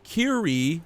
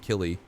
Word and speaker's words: Killy: His name is His name is Kiri, but it's Killy. Like you pronounce it Killy.